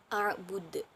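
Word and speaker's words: أعبد: ketiga dan kelima, yaitu pada lafaz a'bud merupakan qalqalah kubro. Karena apabila salah satu huruf qalqalah 5, yaitu ba, dal, jim, to, qaf itu mati atau disukun dari sebab waqaf atau berhenti, maka hukum bacaannya yaitu qalqalah kubro, dan cara membacanya lebih jelas dan lebih berkumandang.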